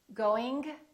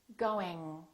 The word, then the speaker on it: going: doing thinking thinking thinking so when i pronounce the ng sound the g is in the back g repeat after me what is your tongue doing your tongue is touching in the back however the g is not releasing very much so when you produce the g let the g just kind of stay there going going going don't release it don't say going at the same time